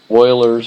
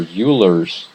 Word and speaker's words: Euler: that equal 14 and that's called Oilers or uler formula depending on how you pronounce that funny name okay we have a